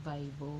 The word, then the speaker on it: Vivo: Kasi nakita nila nung nagpa-prank call ako, ang gamit ko yung luma kong Vivo or Vivo. Kasi sabi ni super friend Vivo, yun yung tamang pronunciation.